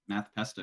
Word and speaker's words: Math Pesto: Um, how do you pronounce the name Math Pesto is a question that Logan Wall had asked. Yeah, just Math Pesto, you got Math it.